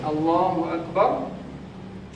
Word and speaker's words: Allahu Akbar: Seperti orang yang baca A-nya dipanjangkan, Allahu Akbar. Ini bacaan yang betul, Allahu Akbar. Ini yang betul.